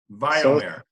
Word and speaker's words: Vayomer: It's Wayyomer. And it's a Hebrew word, and it means, or it's pronounced Vayomer. Vayomer. So like oy vey, Yes.